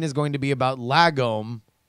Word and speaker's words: lagom: Lagom should be spoken as la, like in car. La, car, lagom, like prom.